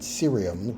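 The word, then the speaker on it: cerium: serium uh curium and serium we have a hard C in curium and a soft C in serium C I think that works 115 down.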